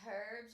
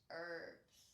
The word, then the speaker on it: herbs: listeners yes a poll do you say herbs with an H which is herbs or with a silent h herbs herbs I say both